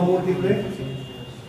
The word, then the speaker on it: mieloma múltiple: Uno, el mieloma múltiple. ¿Cómo? No tiene nada que ver. No. Combinadas mixtas no. Es solamente linfocitos B. Múltiple, acento en la U.